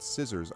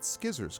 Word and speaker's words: scissors: was a kid and I learned the word scissors, I pronounced it skizzers because I saw it SCI and I'm like, that's what it is, right?